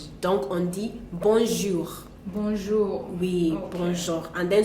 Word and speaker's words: bonjour: people do not know we do not have that that thick J in French what we have is a soft one that it's like dunk on the bonjour bour we bour and